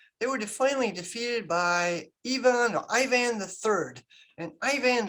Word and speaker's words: Ivan: by uh yvonne iii now americans you see ivan it's kind of more worse than pronounces evon kind of like the french evon it's a form of